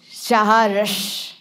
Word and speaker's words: Saharsh: That Saharsh with 2 H. It's Saharsh. It's like S-H-H. It's like when the baby was crying, Saharsh.